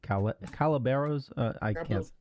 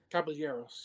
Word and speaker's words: Caballeros: How do you say Calaberos? Caballeros. Yes.